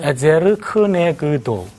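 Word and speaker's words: עֵזֶר כְּנֶגְדּוֹ: 에제르 크네그도. 발음이. 에제르 크네 그도 크네그도. 에제르 크네그도. 한번 따라해 보세요. 에제르 크네그도. 에제르 크네그도. 너무 굴리지 않아도 돼요.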